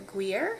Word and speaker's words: Gouda: And if I have Gouda or guer, that's how you say it, I add that.